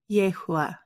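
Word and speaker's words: Yahuah: of our heavenly father it's pronounced yehua and it means he exists the background is a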